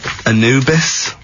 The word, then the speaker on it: Anubis: number two then uh Anubis is how you pronounce it yeah I think that's